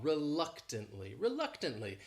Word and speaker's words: reluctantly: This word has 4 syllables and the stress is on that second syllable. That third syllable also has that schwa, reluctantly.